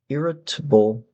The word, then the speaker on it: irritable: Um, number 15 is ear irrit irritable. Now, this could be irritable, could be table, um, if we're speaking slowly. Irritable. Irritable is more of a fluent Pronunciation number 16 is riding.